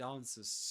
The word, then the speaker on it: answers: Which means that well first of all in terms of sounds the W is silent. Okay. So it answers to me.